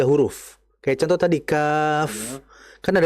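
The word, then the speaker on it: كاف: Contoh, kaf. Kaf itu kan berarti huruf kaf, alif, fa. Berarti ada fa-nya. Kita harus jelaskan. Kaf. Ada f-nya.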